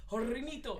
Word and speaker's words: Hornitos: You say it like, like Hispanically. Hornitos.